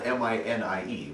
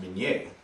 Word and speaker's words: Minié: Now, his name was spelled M-I-N-I-E, which in French is pronounced Minié, but Americans, not knowing the French pronunciation, saw that as mini.